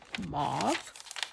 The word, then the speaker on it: mauve: Oh, Hazel, it's because it's got mauve on it. Or as you Americans say, mauve.